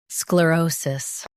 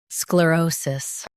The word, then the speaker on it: sclerosis: In US, stress O. In UK, stress Ro.